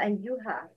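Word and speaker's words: أيها: In stopping, don't pronounce ألف or فتحة because it's not in writing. But أيُّهَا, يَا أَيُّهَا. When you continue or stop, Pronouncing the sound of alif. Ya ayyuha.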